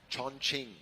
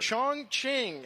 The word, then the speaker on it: Chongqing: Chongqing. I heard Chongqing. And uh many people will confidently tell you you're wrong and tell you it's Shong Shing.